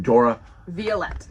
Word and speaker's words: Dora Violet: Dora Violet.